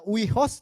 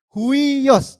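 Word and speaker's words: υἱός: Ini walaupun tulisannya huios, tapi bacanya huios.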